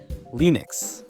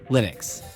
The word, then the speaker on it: Linux: He called it Linux, which is Linus plus Unix, but he pronounced it Linux, and everyone else says Linux, and we're still fighting about it today.